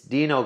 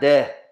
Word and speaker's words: Dino: The A is silent, or actually accentuates the E to make the E and not So it's not de. I know. It's Dino. Get rid of the O. You got Dean.